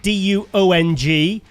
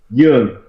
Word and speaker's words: Duong: your name right because it's written D-U-O-N-G, which maybe some people might think it's Duong, but it's not. It's pronounced with the Y, and that is the Vietnamese, how you say it? Young.